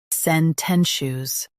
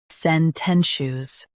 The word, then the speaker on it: sententious: sen ten shus sententious Stress ten and keep shush light.